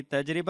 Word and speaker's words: تجربہ: جی تجربہ اس کا جو صحیح تلفظ ہے، نہ تجربہ ٹھیک ہے نہ تجربہ ٹھیک ہے، تجربہ یہ صحیح تلفظ ہے.